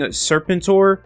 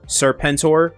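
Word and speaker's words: Serpentor: So, before we get into the video, I have been saying Serpentur instead of how it's actually pronounced in the G.I. Joe series, Serpenttor.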